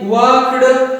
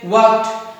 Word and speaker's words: walked: Okay, from today onwards, you will not pronounce like walked. You will say walked.